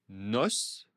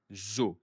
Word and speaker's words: os: Un os, un os, des os, des os. Au singulier, je prononce le S et au pluriel, je ne prononce pas le S.